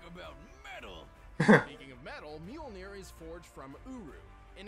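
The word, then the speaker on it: Mjölnir: It's Mjolnir. 65 million years ago, I thought I pronounced Majin.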